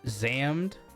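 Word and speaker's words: XAMD: physical release of it, it's spelled X A M D pronounced Zammed Lost Memories.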